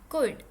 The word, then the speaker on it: could: में हम सीखेंगे मॉडल वर्ब का एक वर्ब कुड। इसमें एल साइलेंट है, कुड।